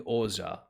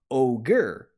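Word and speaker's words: Ohger: series right like uh the most recent one is called King oja right but the way that you spell it out in English is with um is with a g-e-r right so you you would you would typically think you would lean into calling it ogre right but no it's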